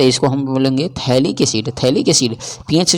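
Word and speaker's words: phthalic acid: तो इसको हम यानी साइलेंट होता है। उसी को हम लोग एब्सेंट बोलते हैं। यानी थैलिक एसिड हो जाएगा।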